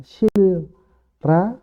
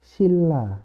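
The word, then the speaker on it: 신라: membacanya ikut ke sini Jadi bukan Sil Ra tapi menjadi Silla seperti itu oke itu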